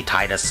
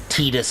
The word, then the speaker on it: Tidus: I used to always say Titus. A lot of people called him Titus. Tidus is the correct way to pronounce it.